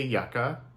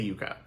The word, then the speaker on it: Yucca: interest with so um Americans say Yucca um there's like the Yucca Mountain that's how Americans say it the name comes from I say Yuka um but that is also because that is the Spanish way to say it so the name comes